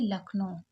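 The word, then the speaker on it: Lucknow: एल यू लक यहां पर you silent है सी के को का पड़ा और एन ओ ओ डब्लू को ओ पड़े यानी कि लखनऊ उत्तर प्रदेश इज द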